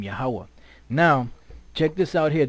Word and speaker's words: YAHAWAH: yahawah all right that's the most High's name yahwah now check this out here they have a pronunciation here right now I want to show